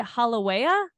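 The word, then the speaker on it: Haleiwa: swim, I would say Halawea. Probably mispronounced that because the W's actually, fun fact, the W's are pronounced like V's, so it's Waikiki, or like it's just pronounced differently.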